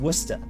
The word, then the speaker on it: Worcester: like uh you know w-o-r-c-e-s-t-e-r is pronounced wusta um you know p-e-a-b-o-d-y